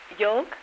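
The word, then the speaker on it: yolk: know now let me think how do you pronounce y l k y o l k yoke yeah that's right now uh what is a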